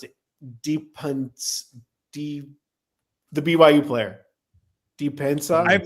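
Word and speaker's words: Dybantsa: I actually covered AJ, how do you pronounce it? The BYU player. Depensa.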